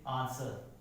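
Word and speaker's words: answer: अगर डब्ल्यू किसी वर्ड में एस के बाद आता है, किसके बाद आता है, एस के बाद आता है, तो डब्ल्यू क्या हो जाएगा साइलेंट हो जाएगा। जैसे आंसर, स्वॉर्ड, ठीक है, जहां क्या हो गया सॉर्ट, यहां क्या हो गया डब्ल्यू साइलेंट हो गया।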